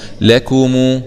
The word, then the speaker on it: لكم: ضمكو لكو ميم ضممو لكمو لكمو، خلي بالنا من ضمة الميم دي عشان الكثير لا ينتبه لضمة الميم، لكمو همزة وصل وسط